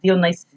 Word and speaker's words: Dionysus: I always say Dionysus, but he's like Dionysus or something. And yeah, there's a Greek pronunciation.